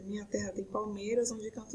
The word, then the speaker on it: palmeiras: Qual é a sílaba mais forte da palavra palmeiras? Ó, palmeiras. Então, nós vamos contar até aqui. No caso de escansão, nós não vamos contar a última sílaba se ela não for uma sílaba tônica, tá? Então, nesse caso, a sílaba mais forte da palavra palmeiras é o MEI.